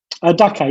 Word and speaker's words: Dhaka: Is it pronounced Dhaka, the capital of Bangladesh? Dhaka, yeah, Dhaka, yes, yes.